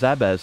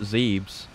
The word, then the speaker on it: Zebes: was testing this that i found out it's pronounced zebes and not zeebs but i looked it up and apparently the